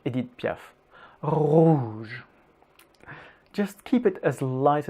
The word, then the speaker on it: rouge: Rouge.